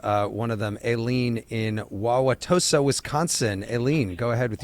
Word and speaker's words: Wauwatosa: Aileen in Wauwatosa, Wisconsin. Aileen, go ahead with your question. Very good on pronouncing Wauwatosa.